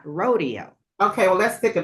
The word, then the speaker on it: Rodeo: to be bougie, but that's just the correct way to say it, rodeo and not rodeo.